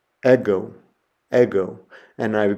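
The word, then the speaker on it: ἐγώ: And the Greek word I have there is the word for I, ego, ego.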